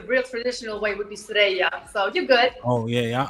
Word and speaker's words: Suerraya: Now, I want to make sure I'm pronouncing it correctly. Suerraya, correct? That's the American way, yes, Suerraya. Okay. But the real traditional way would be Suerraya.